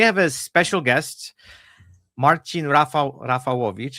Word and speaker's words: Marcin Rafalowicz: I'm going to say it in Polish because we both from Poland. That's our background, and we can say it properly. We have a very short discussion right before about how to properly say the names, but I decided we're going to go with the full Polish pronunciation.